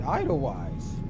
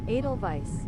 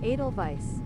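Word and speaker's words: Edelweiss: the the the I would have said idle wise. Idle idle vice. Idle white. That's what I would have said. Adal vice.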